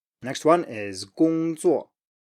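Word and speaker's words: 工作: Next one is 工作, 工作, 工作, work.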